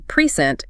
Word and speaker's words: present: If you stress the first syllable pent it functions as a noun meaning a gift. But if you shift the power to the second syllable present, it becomes a verb meaning to display or show something.